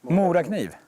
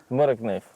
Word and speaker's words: Morakniv: Morakniv. Morakniv.